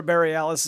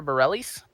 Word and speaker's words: Bareilles: Sarah Bareilles is in this as the balloon guide, and she's the best part of the entire season.